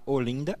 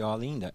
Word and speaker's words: Olinda: Fecha o E ou abre o E, né? Como falar Olinda e Olinda. Eu sou paulista, para mim é Ou Olinda, então Olinda não é nada.